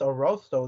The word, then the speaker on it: Arrosto: me until one day they were like, it's Arrosto Deli, right? And I was like, really? After all this time of me working here and answering the phone, I've been saying it wrong. But yeah, Rosto Deli, it means to roast in Italian.